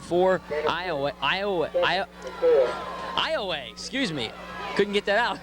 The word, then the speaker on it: Iowa: but it's actually pronounced Iowa. Now it's spelled the same way as Iowa, but it is pronounced Iowa. Correct, spelled I-O-W-A, but pronounced like you said, like far away, Iowa.